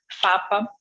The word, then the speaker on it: PFAPA: sobre isso, e depois, ele é PFAPA, mas não se pronuncia o primeiro P.